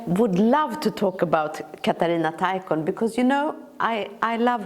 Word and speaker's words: Katarina Taikon: I know about a writer, let's say, a Romani girl whose name is Katarina Taikon.